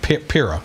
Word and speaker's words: Pirro: Pirro? Yeah, Pirro.